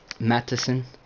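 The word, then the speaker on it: Mattison: behind Dalvin cook but we have Alexander Madison Madison that's how you say it he's 25 for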